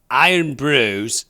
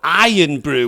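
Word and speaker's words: Irn-Bru: Iron Brew's trademark application for the brand name Iron Brew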